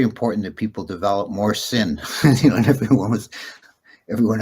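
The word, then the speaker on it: ศีล: adopt a poly word they usually drop off the the terminal vowel and they they can't pronounce a word that ends in a in an L sound. A syllable has to end in only a few narrow range of sounds. So sila in Thai becomes sin and I I remember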